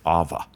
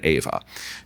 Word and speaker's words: Ava: But the funny thing was that she couldn't pronounce her own name correctly. She pronounced it Ava. And we didn't want that. We wanted Ava.